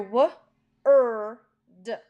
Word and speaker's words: word: For word, you hear w-er-d, but it's spelled with an O-R.